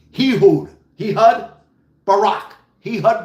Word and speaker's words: Ehud: I can't pronounce the first name, but it's spelled E H U D. Hehood. Heh Hud Barack. Heh Hud Barack. I'm not laughing. Hehud Barack.